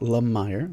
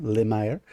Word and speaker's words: Lemire: known as uh samson lemire or lemire however you want to pronounce it uh he pronounces it la meyer le meyer um who had tasked